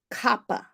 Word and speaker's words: Kapha: k-a-p-h-a k-a-p-h-a -k-a-p-h-a but it's pronounced copper with like a p Kappa Dosha is earth